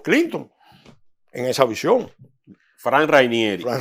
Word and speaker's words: Rainieri: Fran Rainieri. Fran Reinieri. Yo lo digo Fran porque sí, pero es bueno que se pronuncia el apellido porque ahorita dice que Fran por ahí.